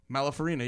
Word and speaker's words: Malafarina: Malafarina, yeah.